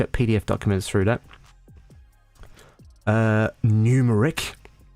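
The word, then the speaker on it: Gnumeric: Numeric, with a silent G.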